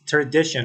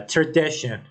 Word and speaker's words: tradition: on the first letter P another word is tradition or traditional uh you know um EST in this word is on the letter d uh tradition traditional and some students mistakenly pronounce this word